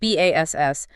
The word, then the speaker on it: bass: And we should probably clarify for everyone that's bass spelled B-A-S-S, but pronounced bass, the large string instrument.